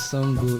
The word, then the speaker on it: Sango: Okay, one is Sango. You can call it Sango. Another is Shango. I don't know if you are Yoruba. But it's spelled S-A-N-G-O. Okay, Project Shango.